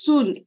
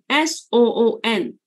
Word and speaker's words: Soon: my name my right my name is Sun s-o-o-n it should be soon but in Singapore I have all our long vowels become short vowels you know what I'm